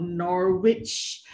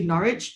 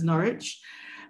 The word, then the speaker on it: Norwich: word here is not norwich which a lot of people are doing so um but there's actually norwich uh there's no w in that pronunciation so it's norwich um so coming to